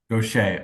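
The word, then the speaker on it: Gocher: When your drummer Charlie, and I'm not sure how to pronounce his last name, Gaucher. Gaucher, okay, Yes.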